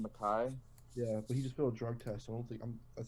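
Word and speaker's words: Mekhi: How do you pronounce Becton's first name? Mackay?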